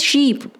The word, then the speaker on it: sheep: The pronunciation is sheep, right? You get confused between ship and sheep. Ship is which runs in water, SHIP. This is sheep.